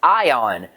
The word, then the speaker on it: Aiyon: and his name is ion spelled a-i-y-o-n but pronounced i-o-n after warmly greeting solon